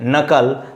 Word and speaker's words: knuckle: Whenever you are going to pronounce these words, kindly K are hidden or understood or silent.